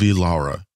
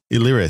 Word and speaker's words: Illyria: This is season 1, episode 3, Ghost of Illyria. I don't know if I said that right, but he'll pronounce it. You definitely didn't. What is it? The Ghost of Illyria. Illyria. Thank you.